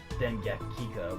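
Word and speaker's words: Dengekiko: Dengeki Kiko? I know it's pronounced Dengekika, but it's just a meme.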